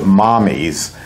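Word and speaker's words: Mamis: originally calls the name she pronounces it mommies which is Italian for mother but it's spelled ma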